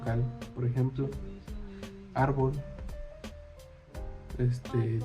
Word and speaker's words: árbol: Por ejemplo, árbol este difícil y lápiz. Por ejemplo, árbol la tiene la a difícil en la en la segunda I. y lápiz en la primera a.